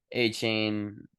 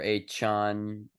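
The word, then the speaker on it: Achane: 4 TDs from A-Chain or A-Chan, A-Chan as he wants it pronounced.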